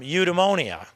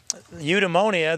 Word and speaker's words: eudaimonia: lifted from the Greek term the Greek term eudaimonia which is spelled EU de tu da mo ni a because we're friends Christi and eudaimonia the Greek term means pursuit of happiness in